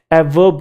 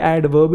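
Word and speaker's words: adverb: अच्छा ये ध्यान रखना ये ए और v के बीच में डी साइलेंट नहीं होता कुछ लोग इसे भी ए वर्ब कह रहे हैं ए वर्ब है ना इतना भी कूल नहीं बनना इतना रैपर डपर भी नहीं बनना ए वर्ब ए वर्ब नहीं है ये एडवर्ब ही है मैंने ए और जे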